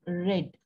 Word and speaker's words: read: Spelling is same, but we pronounce it as read.